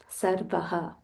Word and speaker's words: Sarvah: Sarvah.